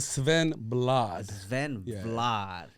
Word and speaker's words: Svenblad: actually he's my personal trainer right now will Sven Vlad you pronounce it Sven blood yeah you you definitely don't don't hear that